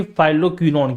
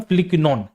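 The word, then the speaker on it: phylloquinone: अब इसको लोग ना अलग तरीके से प्रोनाउंस करते हैं, अलग तरीके से बोलते हैं। इसको कैसे बोलते हैं? ठीक है, तो इसको साथियों बोलते हैं यहाँ पे फाइलोक्विनॉन। क्या बोलते हैं? फाइलोक्विनॉन बोलते हैं। लेकिन सही मात्रा में इसका जो सही प्रोनाउंसिएशन जाता है बेटा होता है फिलिक्विनॉन।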